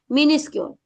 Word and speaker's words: minuscule: Minuscule chances are. Okay. Now, but you, main thing is pronunciation.